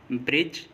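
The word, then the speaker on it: bridge: D silent होगा, जैसे ब्रिज, as, hedge, veg, इन सभी वर्ड्स में देखिए जी से पहले डी आया है और जब भी जी से पहले डी आएगा तो डी साइलेंट होगा।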